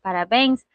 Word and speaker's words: parabéns: gente vai observar que a sílaba tônica da palavra parabéns se encontra lá na última sílaba. Então, a gente tem aqui a separação, tá? Tentei fazer uma separaçãozinha aí. E a última sílaba é a sílaba mais forte. Mas basta a última sílaba ser a mais forte para ser acentuada? Não. Aqui ela está terminando em ens.